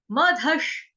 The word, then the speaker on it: मधः: मदशनी कहेंगे, मदशनी है, मधश। श शलगम वाला, शबरी वाला जो है वो आधा है। विसर्ग का उच्चारण जो होगा वो श के साथ करेंगे, हलंत श से।